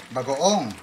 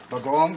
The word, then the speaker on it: bagoong: Bagoong. Okay, and that basically means shrimp paste, right? Yeah, bagoong, we say bagoong.